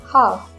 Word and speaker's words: half: Would, should, could, calf, half. Remember, L has to be silent here.